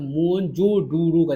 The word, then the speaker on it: मोहनजोदड़ो: मोहनजोदड़ो शब्द का सही उच्चारण का तो मोहनजोडुरो ऐसे करके था।